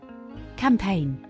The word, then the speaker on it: campaign: silent G rule one the letter g is silent in Words with combination of i g n resign align foreign assign design sign campaign rule two the letter